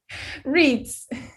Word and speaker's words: Reitz: Reese.